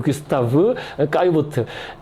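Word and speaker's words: Gustave Caillebotte: 구스타프 불어식 발음으로 구스타프 까유보트 이름을 못 들어보셨으면 수 있지만 그림은 다 아세요.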